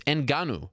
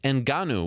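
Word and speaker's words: Ngannou: Gilbert Melendez Francis enanu it's enanu not that hard to pronounce Frances enanu with a big win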